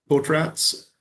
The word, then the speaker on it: Potratz: Potratz 472025 CR497.